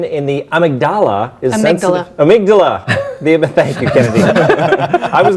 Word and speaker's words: amygdala: Amygdala. Thank you, Kennedy. I was going to let Andy usually corrects when I just phonetically read things off the teleprompter, but Kennedy's got me right there.